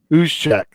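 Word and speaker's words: Juszczyk: Justic, I think is how you say his name for the 49ers. Yeah, I remember. Uzchek.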